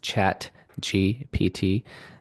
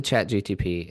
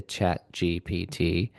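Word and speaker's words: ChatGPT: chat gpt and I say it wrong all the time. Uh, but I won't admit it. I went to chat gtp and I You just did it wrong. You literally just said it wrong.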